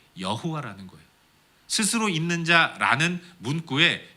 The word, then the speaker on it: 여호와: 내 하나님 여호와라.